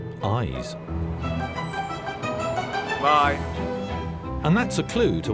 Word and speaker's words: YZ: otherwise known by the initials yz pronounced eyes and that's a clue